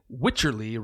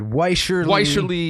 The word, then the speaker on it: Wycherley: I'm reasonably sure that the first syllable in Witcherly rhymes with witch. Okay. So that's right. So I think I had with Weischerly, Wisherly, Witcherly, with Charlie.